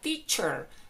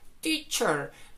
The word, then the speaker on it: teacher: Mientras que profesor sería teacher, teacher. Con la CH que tenemos en español.